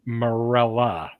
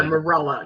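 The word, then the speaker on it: Marella: him Gino yeah okay but it's it's morela not yeah Mela yeah not not MLL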